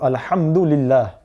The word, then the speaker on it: الحمد لله: So here it is preceded by the lam with a kasra, so we would pronounce it as lillah, not lillah. So alhamdulillah.